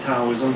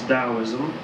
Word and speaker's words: Taoism: It's spelled with a T. Some people pronounce it Taoism, but generally it's Taoism.